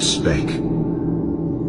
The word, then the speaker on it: Sebek: His name Sebek is the crocodile, originally pronounced Spek.